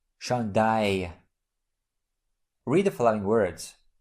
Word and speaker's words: chandail: This letter combination is pronounced like Y in the English word my. So we pronounce it I. Have a look. Travail. I. Chandail.